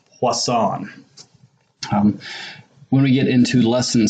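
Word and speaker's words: Poisson: plus on probability distributions this term right here is pronounced plus on when we get into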